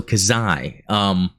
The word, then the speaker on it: Xi: It's almost like Sai, but the hard X sound. So Kazai.